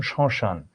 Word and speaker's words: শ্মশান: সেটা হলো যখনই ম থাকবে সেখানে চন্দ্রবিন্দু হবে, তখনই চন্দ্রবিন্দু হবে। সে ময়ের জায়গায়, যেমন শ্মশান, স্মৃতি, স্মরণ।